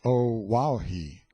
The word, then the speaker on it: Oahu: named him after this island Oahu pronounced o wahi the first gate he